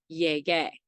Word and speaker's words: llegué: And this is because a G before an E or an I makes a H sound, and because the ending for AR verbs in the yo form is A, we have to maintain that G sound, so we add the U, which is silent, so it's llegué.